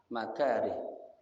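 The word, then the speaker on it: مكاره: Bi fathil mim dibacanya ya mim dan ra-nya dengan fathah, maka ya makari gitu ya.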